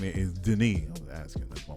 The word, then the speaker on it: Denis: The POCs, Denise, is that the French way? Is that the French way of saying it? Denise? French Canadian. He's a guy. Dennis. He's Denis. That's how it's spelled.